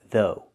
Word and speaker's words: though: Use the TH sound, th, like in mother and father, and the long O like in know and go. Though.